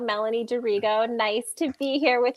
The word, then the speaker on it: D'Arrigo: you get it there ego close close it's pronounced dirigo melanie dorigo nice to be here with you all thanks